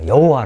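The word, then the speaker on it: 야훼: 내 편을 한 거죠 그래서 이것을 발음을 해야 되기 때문에 야외 라고 바로 하죠 개신교에서는 어 여호와 라고 발언을 하고 있습니다 으 이 다르므로 p 할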